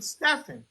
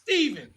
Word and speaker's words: Stephen: s t p Heen and I pronounced it phonetically Stephan and he said no that's Stephen I said what the hell you talking about